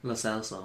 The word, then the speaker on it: Lo Celso: Lo Celso.